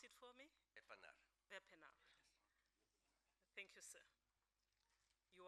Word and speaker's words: Wepener: Wepener. N-E-R, Justice. Would you please pronounce it for me? Wepener.